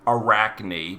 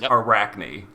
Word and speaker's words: Arachne: I'm told that the boss's name is supposed to be pronounced as you would expect it to be, Arachne, because like 2 is pronounced as knee in Japan or something. That's what I was told. So there it is. So it's Arachne.